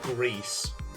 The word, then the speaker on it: Gris: now found out that Gris is supposedly pronounced gree and I don't think